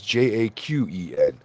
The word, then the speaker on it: Jaqen: It's Jaqen.